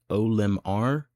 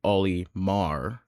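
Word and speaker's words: Olimar: Sometimes people pronounce it Omar or other people say Oyar. I prefer Omar cuz it just makes more sense and it's what he says in Pikmin 2.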